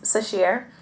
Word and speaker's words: Sasheer: ] yourself fool me once my name is sue sheer and it's hard for a lot of people to pronounce and by a lot of people I